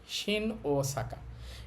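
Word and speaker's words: 大阪: এই পাঁচটা বর্ণের বা এই পাঁচটা সাউন্ডের যদি একই দুইটা সাউন্ড একসাথে থাকে তাহলে দুইটার উচ্চারণ করতে হয় না। একটা টু টেনে বললেই হয়। এখানে আমরা বলবশিন ওসাকা। ওসাকা।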